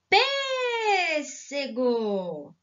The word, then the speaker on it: pêssego: som fechado fica inglês palavra pêssego qual é a sílaba mais forte pêssego quem falou p as escolas então eu vou usar circunflexo vamos tentar pelo cinco circunflexo